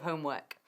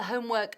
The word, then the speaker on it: homework: La pronunciación de homework no da muchos problemas tampoco, pero es work, no work. Work, es lo único, es una cosa pequeña.